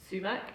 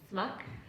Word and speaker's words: sumac: And sumac, especially for the Iranian and Kurdish and Iraqi populations, there was always this little girl who'd be like, because also they'd often pronounce it as smack.